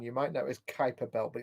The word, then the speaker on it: Kuiper: Which dwarf planet was the first Kuiper Belt object to be discovered in 1930?